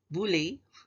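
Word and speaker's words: bullae: type of a blister kebule pronounced as bully is the plural word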